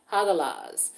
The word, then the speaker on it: Hagalaz: Hagalaz.